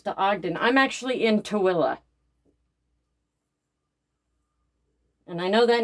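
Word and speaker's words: Tooele: Most people when you see how it's spelled, they call us Tuli. It's spelled t o e l e, but it's pronounced toilla.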